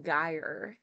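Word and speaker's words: gyre: the there we go make the G hard in guy and Gimbal and pronounce wrath to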